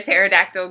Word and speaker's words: pterodactyl: can't you hear a pterodactyl going to the bathroom um I have no idea cuz the PE is silent